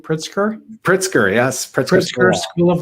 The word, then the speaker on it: Pritzker: initiatives at both northwestern and has the proper pronunciation pritzker pritzker yes christopher school of law and mccormick